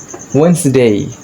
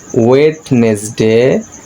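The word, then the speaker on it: Wednesday: তারপর হচ্ছে ওয়েন্সডে, ওয়েন্সডে, ওয়েন্সডে, নট ওয়েডনেসডে।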